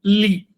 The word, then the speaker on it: tli: Entonces el sustantivo tli no se pronuncia tli, sino li.